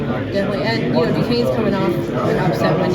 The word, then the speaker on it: Duquesne: If we end up beating Duquesne, that's how you pronounce it, right? Duquesne. Yep. Yeah, Duquesne. Tricky word, but even if we do